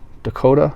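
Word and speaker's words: DeCoteau: and David de kado Dakota I believe it I I always used to pronounce it - co2 and I think it's pronounced dakota film from 1983 i'm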